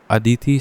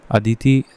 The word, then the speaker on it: ADEETIE: नाउ who launched the अदिति scheme for MSME, इसकी spelling में ADEETIE है, assistance for deployment of energy efficient technologies industrial establishments.